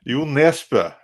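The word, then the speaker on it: Jo Nesbø: Joel Nesbø. He means to say Joel Nesbø, like it's supposed to be an O with like a slash through it, like the forbidden sign, and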